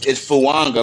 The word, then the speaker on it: Fuaga: It's Fuanga like it has an N in it. That's the way he said it's pronounced in his bet, language.